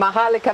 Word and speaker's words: Maharlika: And Maharlika means what?